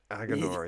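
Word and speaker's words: Aginor: It's Agonar is how they pronounce Nor not Nar. Agonor.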